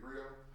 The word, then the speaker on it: Griot: I said, it's about community, at TC The Grill, TC The Grill, it's spelled GRIOT.